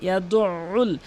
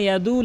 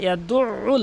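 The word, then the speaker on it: يَدُعُّ: ফাযালিকাল্লাযী ইয়াদউল, কখনো ইয়াদুল ইয়াতীম বলবেন না, ইয়াদউল। এখানে অধিকাংশ লোক কিন্তু আইনের উচ্চারণটি বাদ দিয়ে ফেলে, কখনো আইনের উচ্চারণটি বাদ দেবেন না।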